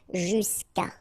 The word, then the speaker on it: jusqu'à: Normally what happens is that this final will go away, and then we'll put Sorry, we'll put apostrophe, so that's the reason why we get this jusqu'à, okay, and then phonetically, jusqu'à, okay.